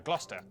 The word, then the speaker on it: Gloucester: amongst you through yeah sester is pronounced stir Lester Worcester Gloucester w at the start